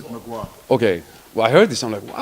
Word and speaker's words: Mgła: Yeah, pronounce it Mgła.